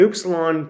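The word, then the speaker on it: upsilon: then an oops Salon an oops Salon tends to be always having the oo sound but sometimes it can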